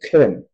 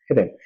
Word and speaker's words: 헤렘: 발음이 조금 목에서 약간 강한 크 발음을 내야 되는데 헤렘 헤렘 헤렘이라고 쓰지만 읽기는 헤렘이라고 읽어야 돼요.